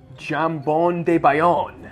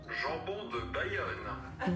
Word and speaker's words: jambon de Bayonne: Jambon de Bayonne, which I definitely pronounced wrong. You want to hear the French pronunciation? Yes. Jambon de Bayonne.